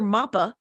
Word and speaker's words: Mappa: They call my sister Mappa, as in rhymes with Papa.